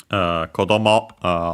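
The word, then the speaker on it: 子供: Kodomo on its own should be unaccented. We have seen that one before, I think. But yeah, with the Tachi, the accent stays on the final mora of final syllable, technically, of the word before Tachi. So on the mo.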